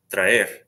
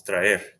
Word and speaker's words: traer: So the first word is traer. So tra and then er are separate syllables, traer.